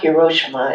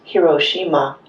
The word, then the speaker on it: Hiroshima: And of course this is where Hiroshima and Nagasaki are. I'm going talk about the language in a minute, but in Japanese, every every syllable is accented the same way. So, it's not Hiroshima, it's Hiroshima is the correct pronunciation.